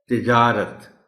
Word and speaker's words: تجارت: کو کھا جاتے ہیں۔ تجارت عام طور پر لوگ بول اور پڑھ جاتے ہیں، تے کے نیچے زیر ہے، تجارت۔ طلبہ کو مشکل الفاظ